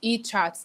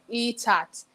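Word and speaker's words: Eckhart: The Power of Now is E-Chart. The chart is CHART. Don't mind me, I don't pronounce like the Americans.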